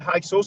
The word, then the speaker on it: Hyksos: That reproduction from Beni Hassan on the Wikipedia, if people type Hyksos, Hyksos, some people pronounce it Hyksos. I don't have a problem with that.